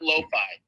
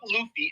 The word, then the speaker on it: LOFI: killed it with the the I'm calling it Loi I don't give a I